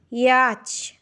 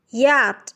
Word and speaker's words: yacht: Today we will learn about correct pronunciation. Receipt is wrong. Correct is receipt. Fillet, wrong. Fillet, fillet, correct. Yacht, wrong. Yacht is correct.